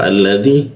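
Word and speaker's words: الذي: Ketika ada huruf alif bertemu lam selalu dibaca a. Jadi kalau ada alif dibaca ya butuh alladzi seperti itu.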